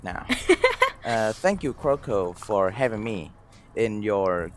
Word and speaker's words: Kyoko: name yes but so non-native people would say croco croco croco right they cut it very short whereas americans would say croco they would actually extend my name croco crow instead of